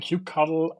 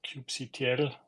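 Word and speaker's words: kubectl: cube context or the context for for calling Cube cuddle um or cube C I know there are some religious pronunciations for that um but the idea was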